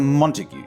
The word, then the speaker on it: Montague: heard of before Mr Montague said well like what then Mr montagu Matas God is pronounced Montague but then I wouldn't expect